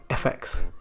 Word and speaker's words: Luca Visual FX: Luca Visual VX. Actually pronounce that FX.